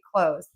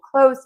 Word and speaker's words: clothes: If you just say close, I'm wearing new clothes today, then everyone is going to understand you. So, just end this word with a z sound.